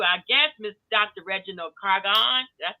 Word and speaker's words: Garcon: Reginald Garcon. Did I say it right? Garcon, it's French.